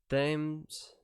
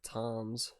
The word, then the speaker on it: Thames: Thames, or Toms, however you want to pronounce it.